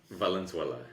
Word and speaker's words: Valenzuela: pronounce your last name Valenzuela it's almost like the country so I'll give you